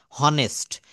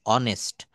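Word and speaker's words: honest: আমরা এই অনেস্ট এটা কিন্তু সঠিকভাবে উচ্চারণ হওয়ার কথা ছিল হনেস্ট। কিন্তু আমরা এটা স্বরবর্ণের একটা উচ্চারণ করব অয়ে। অনেস্ট।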